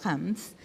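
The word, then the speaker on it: Reims: que se llama eh Volviendo a Hams, que es muy bueno, se escribe Rames, que es de un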